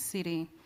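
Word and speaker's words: Tsidi: My first name is Sidi, uh, which is spelled with a T and is very difficult for a lot of people to understand.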